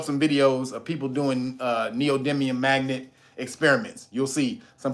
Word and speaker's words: neodymium: No, neodymium. It's called neodymium. You spell it.